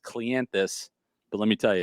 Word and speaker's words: Cleanthes: likes that because his last name is actually pronounced clientus but let me tell you it's not an